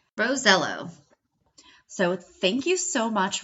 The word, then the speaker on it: Rosiello: pronounce his last name he asked his Italian grandfather years ago he confirmed it rosello so thank you so